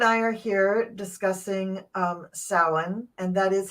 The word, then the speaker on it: Samhain: so Gerald and I are here discussing um sin and that is how you pronounce it is sa um I you you're perfectly welcome to go ahead and keep saying Sam Hayne or samah Hayne but it's not how it's pronounced not in